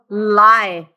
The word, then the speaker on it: alkali: Alkali. Alkali. 3 syllables.